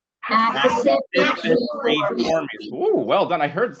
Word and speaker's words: Accipitriformes: The way you pronounce this one is, get ready for it, it's Accipitriformes. Accipitriformes.